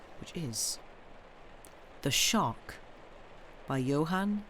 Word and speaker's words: Johan: Johan, okay. Okay, I'm going to mispronounce some of the names in this, I think.